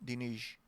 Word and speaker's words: Diniz: For once and for all, is it Luciana Diniz, or do I have to adapt to your pronunciation of Diniz? No, Diniz. Diniz. Luciana Diniz. Diniz. Yeah. Diniz. Put a SH on everything.